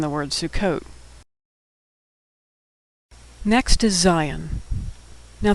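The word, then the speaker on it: זין: Next is zion. Now, the name of this letter sounds just like the English word Zion, which is a name for Israel, but that's just a coincidence.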